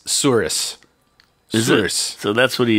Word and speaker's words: souris: spelled S-O-U-R sour I-S. Souris. Is Souris.